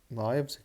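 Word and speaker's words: knives: كالم قاعده رول سكاكين نايفز نايفز كي سايلنت لا تنطق حلوى كاندي كاندي اشياء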